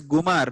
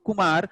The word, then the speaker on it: Kumar: But then if a person who knows to read Tamil letters but do not know Tamil properly, he may pronounce it as Gumar. Why? Ka and Ga looks similar in writing, Tamil script. But then where that this sound, it should be pronounced as only Kumar, not Gumar comes from, it comes from Sanskrit.